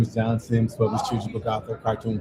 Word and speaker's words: John Sims: Spelled like it sounds. JOHNSIMS.